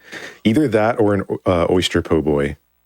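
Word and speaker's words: po' boy: So, either that or an oyster poboy.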